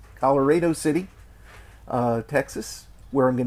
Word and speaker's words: Colorado City: and then on to what i hear is pronounced uh colorado city is that right larry colorado city uh texas where i'm